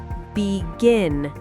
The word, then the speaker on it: begin: Most two syllable verbs have stress on the second syllable. Oh, so it's the opposite. Exactly. Listen. Begin.